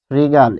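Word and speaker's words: শৃগাল: তাহলে আমরা যদি লিখি যে শ্রীগাল, শ্রীগাল, এটির উচ্চারণ হবে শ্রীগাল, শ্রীগাল। ফলে খেয়াল করতে হবে, এখানে আমরা পাচ্ছি শ্রীগাল, হসন্ত দিতে হবে, নালে ভুল হবে, কারণ আমরা থেমে যাচ্ছি, শ্রীগাল।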